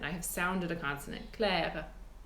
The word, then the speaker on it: Claire: In French, it would be pronounced Claire. In spoken French, you can hear I do that uvular R.